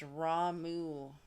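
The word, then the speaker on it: Ramuh: Uh, Christopher says, "That one's pronounced Ramu."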